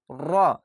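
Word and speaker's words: ر: 10 number মাখরাজ র উচ্চারণটি কিভাবে হবে দেখেন জিহ্ গোড়া উল্টো পিঠে দেখেন র উল্টা পিঠ হচ্ছে জিহ্বাটা দেখেন র এইভাবে। উল্টো পিঠে এবং তার বরাবর উপরের তালুর সাথে লাগিয়ে উচ্চারিত হয়। র একটু আওয়াজটা দেখেন। গাড়ির মত আওয়াজ হচ্ছে র এভাবে উল্টা ভাবে হবে জিহ্বাটা উল্টা তালুর সঙ্গে লাগিয়ে হবে র 11 নাম্বার মাখরাজ ত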